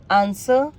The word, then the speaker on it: answer: कहने का वही मतलब हो गया कि W दोनों ही केसेस में साइलेंट हुआ. Example: whole, rack, rap, wrist, wrinkle, wriggle, write, to, sort, answer, whom.